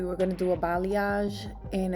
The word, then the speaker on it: balayage: because a balayage, and I know sometimes people have problems, difficulties pronouncing it, but it is balayage, and what that just means is hand painting.